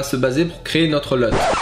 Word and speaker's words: LUT: baser pour créer notre LUT. Je prononce LUT et pas LUT parce que c'est en anglais en fait c'est LUT pas LUT.